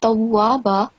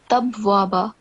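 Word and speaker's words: تَوَّابًا: So it's tawwaba, but you said tabwaba both times. So there is no ba between ta and waw, right? So it's not tabwaba, it will be tabwaba.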